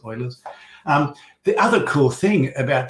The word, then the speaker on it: Euler: definition of beauty euler's some people also pronounce the oilers but i think that's how it's correctly pronounced oilers the other cool thing